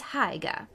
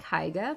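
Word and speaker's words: Haigha: g ha a so I don't know why that rhymes with mayor I love my love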